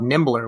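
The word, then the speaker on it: Nimblr: got something else called nimbler which i think it's it's pronounced that way it's kind of like tumblr i guess it also left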